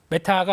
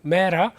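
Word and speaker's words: Meta: 그 메타가 아니고 본토 발음 메라.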